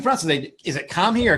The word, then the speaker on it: Kamhi: pronounce francis is it come here or cammy or how do you pronounce your last name it originally was commie but uh when i got